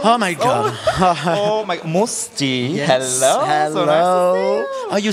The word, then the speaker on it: Mustii: my God oh my musty hello oh you say musty you you can in fact you know it's linked to my family name it's must in French so but I know